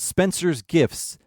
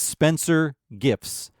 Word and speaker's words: Spencer Gifts: It's not Spencer's Gifts, and Spencer's Gift makes no sense. It's Spencer Gifts.